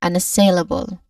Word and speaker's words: unassailable: Next is another schwa sound and it ends with bull. Bull which has you know a short quick vowel sound also. All in all we say unassalable. Again unassailable. One more time. Unassailable. All right. That is unassailable.